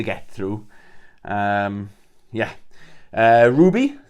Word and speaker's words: RWBY: through um yeah uh Ruby I always promised this wrong RWBY I used to pronounce it w r b y but it's Ruby okay now this is